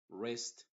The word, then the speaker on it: wrist: Y la W en palabras que empiezan con WR también es muda. Y solamente pronunciaríamos desde la R hacia adelante. Wrist, wrinkle, no trate de